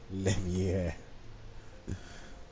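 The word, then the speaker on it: Leveilleur: Afanad Leveler at your service, my friend. Levier. Gotta say it like the French do.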